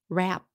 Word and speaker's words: rap: Hello chị, how to pronounce the short form rep in representative and the word rap?